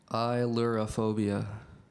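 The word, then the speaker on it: ailurophobia: illurophobia yes you're saying it correctly could you pronounce it one more time please yep i lure a phobia i lure a phobia yes e-y-e-l-u-r-a-p-h-o-b-i-a incorrect number 75 gershire your word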